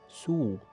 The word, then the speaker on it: sous: فوق sur تحت sous sous. كذلك هنايا عندي s على fin لكن لا يتم نطقها.